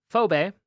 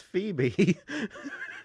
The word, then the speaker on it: Phoebe: It's Phoebe. It's Phobe. Phobe. It's spelled phobe, but it's Phoebe.